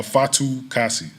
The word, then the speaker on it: Fatukasi: pronounce that last name like you're enunciating each syllable so oh my last name uh fatu kasi thank you hey fully um how about the